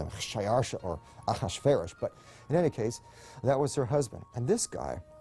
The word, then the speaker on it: Ahasuerus: His Persian name, in Old Persian, which is his original native language, is Shayarsha. Now, that was hard for the Jews to pronounce, so they said Ahashverosh. We know him as Ahasuerus. And the Greeks said Xerxes, which is Xerxes.